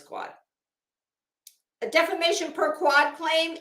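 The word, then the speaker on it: quod: let's see what per is it quo or quad I don't know that you do pronounce the d on the end I think it is quad a defamation per quad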